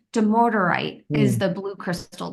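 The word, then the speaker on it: dumortierite: It's demorderite is Hmm.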